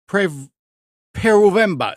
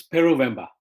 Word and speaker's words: Peruvemba: the hangout is our guest for today, Peruvemba. Did I say it right? Yep, that's close enough. Oh, no, you say it. No, you got it right. It's Peruvemba.